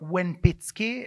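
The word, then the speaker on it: Łempicki: Petersburg that Tamara would meet Tadeusz Lempicki, or Łępicki, as according to the Polish pronunciation, whom she married in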